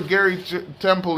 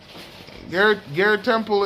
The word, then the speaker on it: Garrett Temple: Let me see where Gary Temple is. Garrett Temple is, let me see where Garrett Temple is.